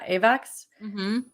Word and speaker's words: AVAX: right but someone asked what about is it avex yeah avax so what about apex yeah yeah that's how you pronounce it so it's it's the avalanche network